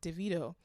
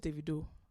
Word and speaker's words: Davido: She was like, isn't it annoying when people say your name wrong and they always like Davido? And he was like, you know it's Davido.